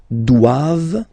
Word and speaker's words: doivent: And then the last one, ils doivent, so same thing, classic ending for the plural form, ENT here, okay, but then you don't pronounce it. Doivent, doivent, elles doivent, ils doivent, elles doivent.